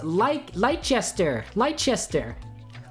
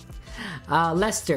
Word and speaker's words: Leicester: Ooh, let me pronounce Leicester.